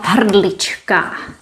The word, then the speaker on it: hrdlička: And now, this mysterious word hrdliččin, where we pronounce ch, hrdliččin, a very beautiful word. This comes from hrdlička.